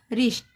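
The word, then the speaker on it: wrist: जैसे इसमें भी डब्ल्यू के बाद आर आया तो इसका क्या प्रोनाउंसिएशन होगा? रिस्ट रिस्ट यानी कलाई इसमें भी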